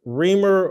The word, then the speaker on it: Reimer: first I appreciate Jason reamer is how you pronounce it reamer so Alex I'll just